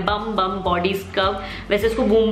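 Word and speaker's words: Bum Bum: इसका नाम है बम बम बॉडी स्क्रब.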